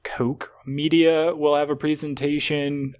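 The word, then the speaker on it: Koch: on June 11th uh I think it's pronounced Coke media will have a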